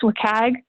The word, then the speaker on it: WCAG: right is wcag and it's often pronounced wikag which is a little